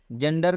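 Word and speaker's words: gender: जेंडर का मतलब होता है लिंग। जेंडर में भी जी ई एक साथ में आया हुआ है, इसलिए जी ई का उच्चारण ज से किया गया है।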